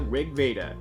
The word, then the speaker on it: RG Veda: from clamps debut manga Rigveda and yes it is supposed to be pronounced that way since the title is based off an ancient Vedic Sanskrit tome held sacred by the Hindu religion called Rig Veda what does that have